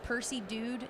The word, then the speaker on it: PercyDewd: Our shared account is Percy Dude is our brand name, and that is spelled PERCYDEWD. It's kind of weird spelling, but that's us.